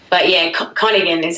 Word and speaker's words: Koningin: But yeah, Koningin is how you pronounce it.